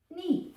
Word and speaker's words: knee: When two e are together, the first one says, "Hey, remember me? Remember me. My name is E. E." The second one just listens. So, we just say e when they're together. So now we can read it. N E knee.